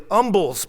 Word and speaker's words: umbles: The other kind of humble pie, the one the old saying is based on, is actually umbles pie. The H is not pronounced.